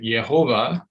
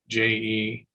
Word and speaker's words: Jehova: Germans, and Bultmann was a German, would pronounce it Yehovah, but begin with the letter J. So it's Jehova.